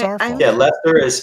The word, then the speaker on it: Worcester: Yeah, Lester is spelled Lester, and I'll be damned if it's spelled that way on a sign.